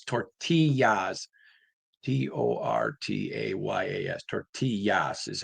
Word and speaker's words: tortillas: t o r t a y a s tortillas is how you pronounce tortillas.